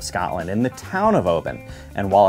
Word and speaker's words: Oban: in the town of Obin and while it's one of the most often mispronounced names in all of whiskey I remember it like open the bottle Obin a visit to this